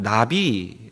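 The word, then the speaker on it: נביא: 단어에 구약성경을 원어를 살펴보면 이 선지자 라는 단어는 나비 라고 읽히는 단어로 표현 됩니다 그리고 이것은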